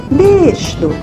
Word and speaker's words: берашду: Пишется берашду. Говорим бершду.